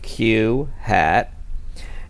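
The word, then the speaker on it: q̂: the survey we have Q hat and it's pronounced Q hat and it represents the proportion of those in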